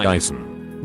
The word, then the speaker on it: Jason: Jason. Gotta capture how all of the emphasis is on the first syllable.